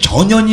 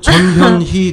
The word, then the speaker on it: 전현희: 짧으신 짧으신 분들은 사실 전연이 의원도이 혀 잡으면 전연이 돼요 그렇 우리 우리 캠프의 대변인 아 나도 혀가 잡으니까 어쨌든 전연이이 이렇게 되니까 전연이 그니까 전연 전현희 대변인인 이게 잘못 발음하게 되면 전현희 대변인 그러면 이게 욕같이 들리는 거거든요 근데 사실 그런 것들을